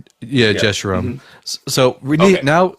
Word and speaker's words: Jeshurun: And I'm sorry, I don't know how to pronounce that word. I struggle with Hebrew names. It's fine. Jeshurun? Yeah, Yeah. Jeshurun.